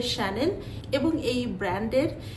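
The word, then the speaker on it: Chanel: আছে এই ব্র্যান্ডের সাথে তো এই ব্র্যান্ডের সঠিক উচ্চারণ আপনি এভাবে করবেন যে শানেল এবং এই ব্র্যান্ডের যে সূচনা করেছিলেন তিনি একজন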